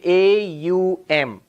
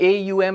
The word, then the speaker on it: Om: The rules of Sanskrit grammar say when you put a and u together it becomes o.